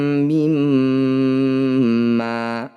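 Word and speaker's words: مما: Wa fakihatim mimma. Setiap ada mim atau nun yang bertanda tasydid disebut bacaan gunnah musyaddadah. Cara bacanya bunyi mim dengungkan tahan 2 ketukan.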